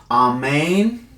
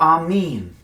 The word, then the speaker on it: Amen: Amen is pronounced, depending on the dialect, in Aramaic as Amen or Amin.